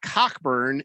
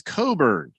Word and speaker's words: Cockburn: colts fan dances uh it's not cockburn it's coburn tomato tomato says do